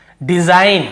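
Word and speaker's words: design: जी का क्या रूल है भाई, एन के पहले जी हमेशा साइलेंट होता है, ठीक है। एन के पहले यदि जी हो तो साइलेंट होता है। देखिए एन के पहले जी है, एन के पहले जी, एन के पहले जी, एन के पहले जी। तो देखिए डिजाइन, हम इसे क्या पढ़ रहे हैं, डिजाइनर, डिजाइन, तो डिजाइन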